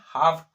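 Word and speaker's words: half: तो क्या बोलते हैं, हाफ, है ना। तो एल को नहीं बोलते हैं, क्यों, क्योंकि उसके बाद एल के बाद क्या है, एफ।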